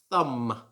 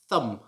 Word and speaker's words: thumb: this like thumb thumb so again in this word there's a silent letter the silent letter is the b it should not be pronounced thumb as i sometimes hear it should just be thumb and there are many